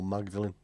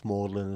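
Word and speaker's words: Magdalene: see the mlin sisters does that pronounce mlin or magdalin cuz if it's a college it's mlin isn't it they must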